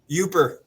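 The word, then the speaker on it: Yooper: Youper. Oper, yeah. Youper. Okay. Youper. I was wondering how to pronounce that.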